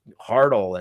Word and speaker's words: Hartle: saying something like oh your name is hartl and that rhymes with fartle they're grasping at straws